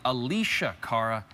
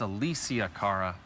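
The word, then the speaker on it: Alessia Cara: Franklin I apologized and you pronounced that Alisha Cara it's Elysia Cara the halftime performer from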